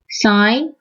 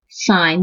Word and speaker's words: sine: IJ sent over hypotenuse sine you right you just use three letters si n it's not a sin sign the way you pronounce it the sine sine is